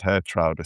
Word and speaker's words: Geertruida: I'd love to have Geertruida in my group. See, I pronounce it Geertruida, so there's another variation.